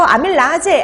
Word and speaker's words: 아밀라제: 아밀레이스 이렇게 보시면 돼요 자 그래서 아밀라제 아밀레이스 다 같은 말입니다 근데 이게 독일식으로 발음 하느냐 영어식으로 발음 하느냐 그 차이만 있는 거예요 근데 요즘에는 영어식으로 보통